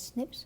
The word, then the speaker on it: SNP: single nucleotide polymorphism or they're pronounced as snips occurred in humans now